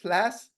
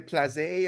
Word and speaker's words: Plasse: So that's how you pronounce it, Plasse? Because I wasn't Plasse. sure. I was Yeah, like, I yeah, was like, yeah. saying Place.